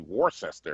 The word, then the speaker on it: Worcester: Worcester is actually spelled Worcester. It's Worcester. They say Worcester, but it's actually Worcester. It's actually how you should pronounce it. So, but because in Massachusetts the R is silent, it's Worcester.